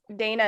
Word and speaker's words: Dana: Dana is pronounced Dana with the long A sound.